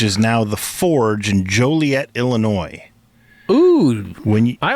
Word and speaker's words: Joliet: that place was pronounced joylet enjoylet yeah Joliet it looks like it's pronounced it's not just like toilet with a J on it the uh the eye